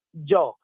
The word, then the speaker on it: Gio: Invece potete digitare G. Io dico sempre la G, che è di gioia, per dire qualcosa di bello, la I e la O. Quindi Joe, scritto proprio come si pronuncia in italiano.